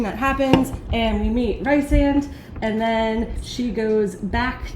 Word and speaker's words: Rhysand: Oh, what do you call him? Riz. That's Riz, bro. He's Dear goated. friends, it's a mini sip for any time Rick mispronounces a name. All right. It's Rhys. Isn't it Rhys? It's Rhys. It's Rhysand. Rhysand.